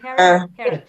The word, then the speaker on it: Herod: רמזס השלישי, רמזס the טדי קולק, Herodotus, how do you pronounce that in English? Herodias. Is it Herod? King Herod.